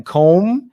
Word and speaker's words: comb: Professor Willy, na pronúncia, o B é mudo, certo? No plural, o B também fica mudo. Yes, exatamente, muito bem. Comb e combs.